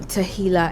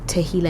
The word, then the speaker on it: Tehillah: I want us to move into Tehillah Experience. That's how to pronounce it, right? Yes. Tehillah Experience.